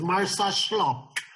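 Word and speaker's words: Marsaxlokk: So, the town that you're talking about is Marsa Shlock. The X is pronounced as an SH, so Shlock.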